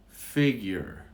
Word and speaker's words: figure: If you want to think of the last syllable, if you want to think of it as Y-O-U-R, like your book, your phone.